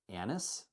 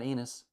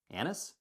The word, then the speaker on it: anise: Anise? It's not anus. Anise?